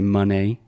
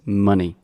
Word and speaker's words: money: A lot of people say money, but it's money. Money.